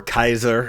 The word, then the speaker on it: Caesar: And Caesar or Kaiser as it was called in the uh in the Latin language, it would pronounce Kaiser, which is where we get Kaiser and Zar.